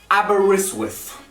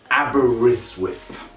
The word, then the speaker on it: Aberystwyth: is like an darby aberystwyth it's like there's a w in front of the eye then the first t becomes mute aberystwyth i don't know what